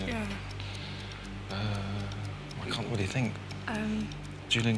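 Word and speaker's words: Quarshie: I think it's pronounced Quashy or Quashy.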